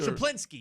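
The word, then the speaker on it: Schuplinski: his name, I always have a tough time pronouncing it. Shaplinsky? Shaplinsky, yes, Jerry Shaplinsky.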